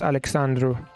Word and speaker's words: Alexandru: yeah it's a very nice name uh in Romania we have uh alexandru this is how you pronounce alexandru it's a very uh